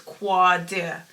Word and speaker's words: Qaadir: There's 2 A's for a reason. I think it's Qaadir. I think it's Qua.